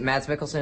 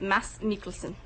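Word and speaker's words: Mads Mikkelsen: absolutely and also um is it mad melson is that how you pronounce his name well in the original it's Mass mikelson okay yeah perfect no yeah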